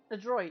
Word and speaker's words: adroit: How do you even say it? Adroit? A droid. Yeah, that's how you say it.